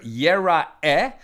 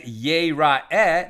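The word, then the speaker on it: יראה: But if you vowelize it as yir'eh, it's still yud resh aleph he. But if you pronounce it yir'eh, then it means will be seen, right? Or rather, will see.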